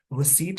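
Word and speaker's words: receipt: है सबमिट पढ़ते है जैसे रिसीप्ट में प्री साइलेंट होता है रिसीप्ट पढ़ते हैं रिसीप्ट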